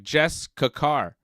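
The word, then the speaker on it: Jessika Carr: right but every time they say it it sounds like Jess kakar so she's Jess kakar well you listen to commentary more than I do yeah Jess car Jessica Jessica car I can't even say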